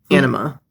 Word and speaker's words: Anima: One, run copy of Thousand Eyes Restrict, summon it, you steal a monster, and then we also run one, this guy, Anima. That's how you pronounce it.